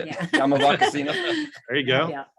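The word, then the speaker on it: Yaamava': Yamava Casino.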